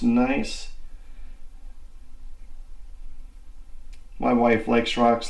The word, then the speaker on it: gneiss: I believe it is spelled Gneiss, but it's pronounced nice.